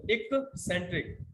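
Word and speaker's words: eccentric: एक्सेंट्रिक, इसको सही से प्रोनाउंस करिएगा, एक्सेंट्रिक, पहले वाला सी के का साउंड बनाएगा, दूसरा वाला सी एस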